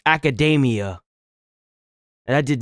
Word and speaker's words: Academia: But the way this is pronounced is Academia.